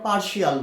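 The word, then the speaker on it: partial: আবার দেখো এখানে পার্শাল, এই যেটাকে আমরা পার্শিয়াল বলি, এখানেও দেখো টি আছে, টি এর উচ্চারণ আমরা কি করছি তালব্য স।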